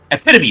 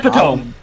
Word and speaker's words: epitome: always get wrong Epiphany I don't know uh epitome there we go epitome like when they pronounce it epitome who the